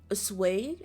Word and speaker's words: assuage: If Jorge had been worried about stepping on anyone's toes, those fears would have been completely assuaged.